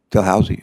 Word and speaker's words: Dalhousie: Ellis earned her PhD from, how do you pronounce the university in Canada you went to, Dalhousie? Dalhousie, okay, I hope I didn't butcher it too bad.